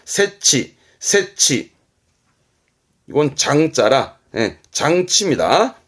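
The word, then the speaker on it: 設置: 이건 설자입니다. 설치합니다. 세치.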